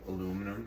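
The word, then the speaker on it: aluminium: calling it uh euminium it was originally called aluminum and I guess they thought it sounded cooler but uh you've got two accepted pronunciations that's how you rip it by the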